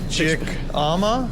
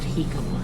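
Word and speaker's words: jicama: Chick-ama? Yeah, I think it's pronounced Hikama.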